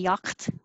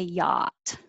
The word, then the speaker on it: yacht: know why we have the extra letters we don't say yakt we say yacht just and i won't